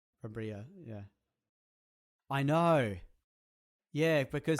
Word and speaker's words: Brambilla: Brambilla? Brambilla, yeah.